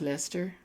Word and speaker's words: Leicester: You see, it's pronounced Leicester.